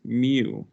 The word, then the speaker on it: mu: it okay how we re how um we pronounce that is mu yup so m mu is what you're going